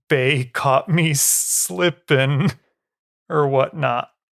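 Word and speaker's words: Bae: hijacked her last name in terms of like ba caught me slipping or whatnot but anyway it's pronounced ba so the Korean cabbage I believe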